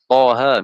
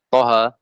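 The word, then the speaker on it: طه: Kita nggak boleh baca Toha. Toha tidak boleh. Walaupun nggak ada tanda panjangnya di situ. Tapi harus dipanjangkan. Ini namanya tidak tertulis pada rosem, tapi harus dipanjangkan. Maka cara bacanya dua harokat.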